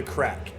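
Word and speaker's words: craic: something that's really interesting you said the crack and that is spelled c-r-a-i-c yeah what is that let's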